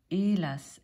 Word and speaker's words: Hélas: Hélas, Hélas 아니고 Hélas, H 발음 안 되는 거.